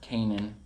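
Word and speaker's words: Caenan: quality stuff there was the canaine or kanan is how it's pronounced actually and uh they're really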